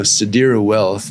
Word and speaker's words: Sadira Wealth: Other Well sadira wealth I now know how to say their name exactly how they want me to say it so sadira wealth you know the texas-based